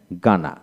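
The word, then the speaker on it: Ghana: যেমন জি এইচ এ এন এ গানা, গানা অর্থাৎ জি এ এন গানা। গানাইন, গানাইন এখানে এইচ উচ্চারণ হলো না।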